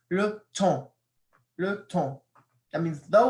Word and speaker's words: le temps: Le temps. Notice the S isn't pronounced. It's le temps. You don't say le temps. Or you don't say le temps. It sounds kind of weird, but it's le temps.